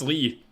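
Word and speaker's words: Lea: what it's spelled it's it's pronounced Lee they they they came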